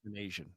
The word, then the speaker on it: Manasian: Manasian. Just like it reads.